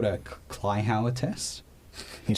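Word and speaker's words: Kleihauer: was another investigation you do it's called a Clower test can you spell that you serious that's k l e i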